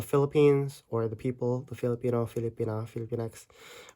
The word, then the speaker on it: Filipino: Like even the name of the Philippines or the people, the Filipino, Filipina, Filipinx. When a native would say them, you'll really often hear Pilipino, Pilipina.